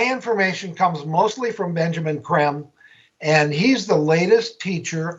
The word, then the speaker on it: Creme: his last name is spelled c-r-e-m-e creme it's pronounced kram Benjamin KREM and so that's what I've been doing is